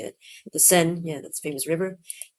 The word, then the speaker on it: Seine: The Seine, yeah, that's a famous river.